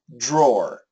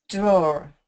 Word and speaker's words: drawer: a really good job it's basically the same as this the easy pronunciation can you say this word door yep drawer drawer yes now that's the easy pronunciation drawer draw drawer some Americans will say draw draw drawer but that's really rare I would prefer that your pronunciation door door drawer drawer be the same as door door drawer door drawer